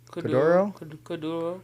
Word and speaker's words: kuduro: Kuduro?